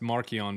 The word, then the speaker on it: Marcion: Marcion is pronounced Markion back then and it means little Mark.